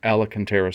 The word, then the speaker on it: Alcantara: first bought the car, I was mispronouncing ALCANTARA, and I seem to have a bad habit, and I can't kick it. It is ALCANTARA Suede.